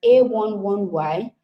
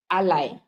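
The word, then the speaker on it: a11y: it as A1 Y you can pronounce it as A11 Y you can pronounce it as ally but it's best to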